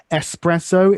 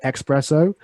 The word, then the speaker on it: espresso: duty to then add by the way espresso is how it's originally pronounced in italian um the preferred option is espresso but some people say expresso um and to not